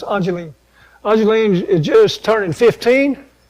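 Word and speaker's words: Ayleen: Ajeline, spelled A-Y-L-E-E-N. Eileen, but it's pronounced Ajeline.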